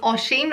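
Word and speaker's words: Oisín: year number three is the name Ocean or ocean spelled o is I an and it has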